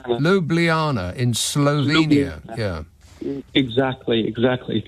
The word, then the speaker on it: Ljubljana: Ljubljana. Lubljana in Slovenia.